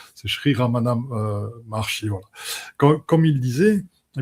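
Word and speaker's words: Ramana Maharshi: Comme dirait Ramana Marti, on n pas vous m'excusez pour la prononciation, c'est Sheri Ramana Marchi.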